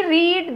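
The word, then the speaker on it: read: Spelling वही रहेगी, pronunciation change हुई है, रीड, रेड, रेड, तो रेड हमने यहाँ लिखा.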